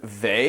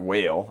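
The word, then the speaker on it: Weil: the French philosopher Simone they I think is how you say that it's not whale I'll tell you that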